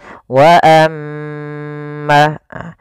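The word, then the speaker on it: وَأَمَّا: Maka perhatikan di sini wa kembali lagi ada bacaan gunnah, yaitu ketika huruf mim berharokat tasydid maka dibaca dengan bacaan gunnah. Cara membacanya, suara nya ditahan 2 harokat. Wa amma.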